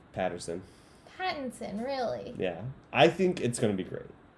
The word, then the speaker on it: Pattinson: I would ride or die Patterson. Pattinson. What am I saying? Patterson. It's like a... I would ride or die, but I can't pronounce his last name right.